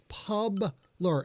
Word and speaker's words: Publer: And I would like to point out that the phonetic pronunciation of this word is Publer. Publer, as in publish.